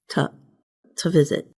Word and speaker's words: to visit: And instead of saying to visit, the vowel in the word to gets changed to a schwa, which sounds like So the word sounds like this, to visit.